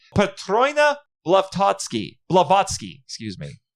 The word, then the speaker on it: Blavatsky: i said i'm saying this right patrona leftovsky blavatsky excuse me said it wrong the founder of